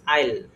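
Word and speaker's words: I'll: যা কিছু দিবেন আর আই উইলকে আমরা কি বলব আই আই মানে জমির আইল চিনেন না এটাকে আমরা ওরকম উচ্চারণ করব আইল তহলে আই উইল গোকে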